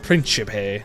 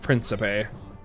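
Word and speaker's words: principe: listen to the pronunciation according to my Italian friend they're pronounced print chip hey not príncipe gone pretty well somehow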